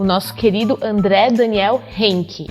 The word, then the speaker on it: Reinke: A pronúncia tá quase, a pronúncia é Henke.